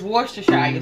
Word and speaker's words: Worcestershire: that i call it that uh but it's worcestershire sauce so some people can't pronounce that sauce so i call it what